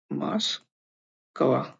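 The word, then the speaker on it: Москва: तो ये मास्कवा, जो मॉस्को राजधानी है मॉस्को की, उसको उसका जो रशियन भाषा में बोलना, वो इसको ऐसे बोलते हैं मास्कवा। हम उसको मॉस्को बोलते हैं, लेकिन रशियन भाषा में उसको मास्कवा बोलते हैं।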